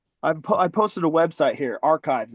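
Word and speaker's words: arXiv: I posted a website here, Archives. It's not spelled like that. It's ARIXV. I posted that to this channel.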